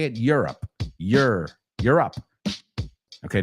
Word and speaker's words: Europe: I live in Europe. You're up. No digo que no puedes decir Europe, but if you want to say it the way we would say it, Europe.